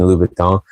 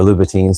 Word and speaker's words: Louboutin: Like I've been talking about lately, Christian Louboutin, or Louboutin, some people pronounce it, but it's French, so I'm pretty sure T-I-N at the end of something, I think, is Louboutin. But so that confuses people because it sounds like Louis Vuitton, and it's not.